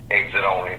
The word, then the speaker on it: Xit Only: Exit Only, that's without the E. The E is silent, so ain't no need to mention it.